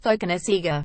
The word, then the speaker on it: Cokanasiga: form for London Irish my surname is pronounced Pocono Sager he explains the sea becomes a th and Fijian if you are from